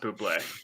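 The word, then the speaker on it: bubly: mango it's mango bubbly buble yeah blueberry it's pronounced booplay look i i uh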